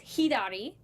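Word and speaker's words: ひだり: So to the left is hidari. Hidari. Which is H-I, for Romaji it's H-I-D-A-R-I. So hidari. Hidari.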